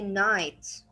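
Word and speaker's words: knight: Also, here we have K, but there is a rule in English that says if the K there's after it N, then I will not pronounce the K. It will be silent. Then I will start from the end and I will say night.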